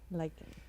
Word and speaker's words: lichen: Oh yeah, I was wondering how to pronounce that one. Yep. Lichen.